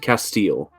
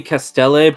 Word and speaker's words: Castelle: Yeah, founder Rosalind Castile or Castelle. You keep changing the pronunciation. It's pronounced either way is the issue. Uh-huh. Alright, cool. The name is technically Castelle, but my brain is dumb.